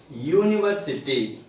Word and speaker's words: university: So that's why here we have written a, and then even come here 5th one, university. So even when we pronounce the starting sound of this word you.